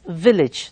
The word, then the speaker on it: village: sound in many, and in village it is E sound. Okay, village, it's not village. Most of us say it village. No, it's village. The correct pronunciation is village.